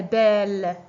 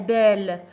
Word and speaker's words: belle: Alors, il y a deux consonnes semblables.